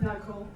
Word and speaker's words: Nakkula: Knuckle. Nakkula is kind of an American way of saying it.